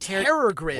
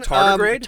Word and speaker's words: tardigrade: Is that how you pronounce it? Terragrid. What? I don't even know what that is. Those tiny can survive in any sort of. Do you mean Tardigrade?